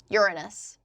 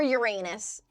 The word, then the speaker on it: Uranus: Aphrodite was born of the foam from the sea after Saturn or Cronus castrated his father, Uranus, or Uranus for the Americans in chat.